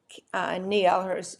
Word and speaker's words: Kniel: Kneal, her last name is spelled Kniel, said losing that data